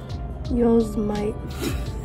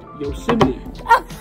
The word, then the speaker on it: Yosemite: Yosemite. I heard you pronounce that incorrectly the other day when you were talking to Apple about the processor, the operating system. What is it? Yosemite.